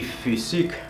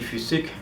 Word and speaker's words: Physik: En alemán se pronuncia como entre una I y una U. Me recuerda un poco a la U umlaut, pero no es realmente así. Te pongo un ejemplo que sería como der Typ, el tipo. Der Typ. Die Physik. Die Physik. Das System. ¿vale? Es un poquito rara esta letra, pero se pronuncia de esta manera.